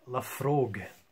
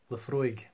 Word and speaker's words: Laphroaig: so I'm just going to show you yeah the Frog I would pronounce that as the Frog the Frigg left left okay I'd see my frog but for a week Laphroaig there we go I don't know what that